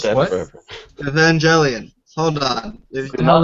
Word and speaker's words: Evangelion: Evangelion. Hold on. What the hell is that? It's not how you say it. It's Gellion.